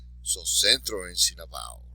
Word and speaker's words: centro: So the last syllable is tro, so the next to last is sen. So, centro, right?